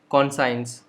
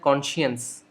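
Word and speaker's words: conscience: के ऐसा लगता है इसका प्रोनाउंसिएशन होना चाहिए कॉन्साइंस, बट कॉन्साइंस गलत प्रोनाउंसिएशन। इसका करेक्ट प्रोनाउंसिएशन है कॉन्शियंस। So cone she, एस सी आई को आप शी पढ़ेंगे, साई नहीं पढ़ेंगे, शीयंस।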